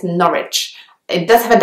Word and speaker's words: Norwich: the next place is another one which has a W which is not pronounced it's Norwich it does have a W there so it looks like Norwich but actually you just say Norwich the next one is